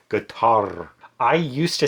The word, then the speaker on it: Qatar: It's not cutter. It's not kater. It's guitar. But it's basically with a g guitar.